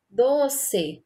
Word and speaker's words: doce: Doce, sílaba tônica, do.